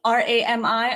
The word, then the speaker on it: RAMI: Ben's prowess has enabled him to win 7 prestigious, is it Rami, R-A-M-I awards? It's pronounced Rami, but yeah.